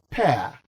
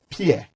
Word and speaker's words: pear: it's very important and the p-e-a-r you eat is pronounced as pair not pierre if it is pierre